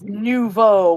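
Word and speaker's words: nouveau: of newvo oh yes nvo newvo I got it guys yes it's Nuvo which is French for new yeah I know that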